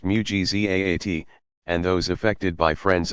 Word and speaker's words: mu'jizat: Pronounced mu'jizat, and those effected by friends of God marvels, karamat, pronounced karamat.